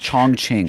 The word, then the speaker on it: Chongqing: a and a q i n g it's pronounced chong ching chong ching okay but c h o n